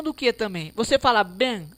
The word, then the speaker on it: bem: isso aí por exemplo bem olha que interessante bem pronunciamos bem repare que esse e aqui pessoas ele